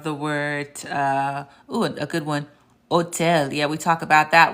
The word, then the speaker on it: hotel: So I want y'all to know something, that the H is silent. So why don't you just look at this H and then imagine it being crossed out. Look at this H and imagine it being crossed out. Look at this H and imagine it being crossed out. And then all you're pronouncing is the rest of the word. The H in Spanish is indeed silent. So it's hola, hambre, hotel.